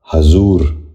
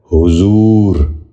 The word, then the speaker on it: حضور: غور سے سنیے، حکومت۔ 10واں اور آخری لفظ ہے حضور۔ یہ غلط تلفظ ہے، درست تلفظ ہے حضور۔ دوبارہ غور سے سنیے،